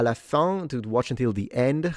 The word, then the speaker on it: fin: But the problem is that in Italian it's pronounced fine, right? With an added E at the end is pronounced E. So recognizing la fine when it's pronounced la fin with this very nasalized sound is difficult for Italians.